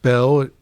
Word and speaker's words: Beall: what's your middle name it's pronounced Bell it always has been but it's been a